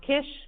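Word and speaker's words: CISH: hybridization which I call sish um it might be pronounced Kish but I pronounce it sish just so um on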